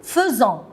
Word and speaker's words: faisons: Nous faisons. Regardez les enfants, faites attention. F-A-I, je prononce feu. On ne dit pas nous faisons, nous faisons.